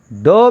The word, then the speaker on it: dough: For example, dough means flour. Dough means flour. Flour, here dough GH silent.